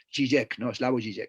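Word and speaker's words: Žižek: el filósofo esloveno slavoj sí sé que se pronuncia si jake no es la uji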